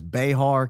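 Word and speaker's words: Bexar: Oh, Beexar is pronounced Bear County.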